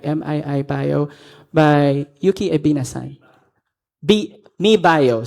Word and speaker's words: MII Bio: Mi Bio, so that's how we pronounce it, Mi Bio.